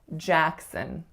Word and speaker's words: Jackson: The first syllable is the winner, and it has to be tense, a. The second syllable is a schwas, Jackson. So make sure you don't say son or son or son, because it's really sun, really, really short.